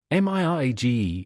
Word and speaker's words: mirage: Mi age and Mari age. M I R A G E is pronounced Mirage, said Valency.